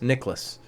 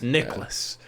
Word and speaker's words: Nicklaus: by him so jack nichols or jack nicklaus how do you say his name the golfers nicholas because there's no like nick ellis it's nicholas nicholson jack nicholson yeah